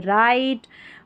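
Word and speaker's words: write: तो डब्ल्यू आर भी जब भी साथ में रहता है तो यहां पर इसको र पढ़ा जाता है क्योंकि डब्ल्यू साइलेंट होता है। देखिए इसमें राइट रॉन्ग और रेस्ट।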